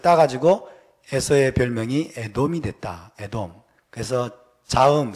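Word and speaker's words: אדום: 에돔. 그래서 자음, 스펠링은 똑같아요. 에돔, 아돔. 해볼까요? 에돔.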